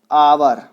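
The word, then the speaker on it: hour: और जो एन होता है वो यूज होता है वोवल के साथ या फिर म्यूट एच, जैसे कि एन आवर।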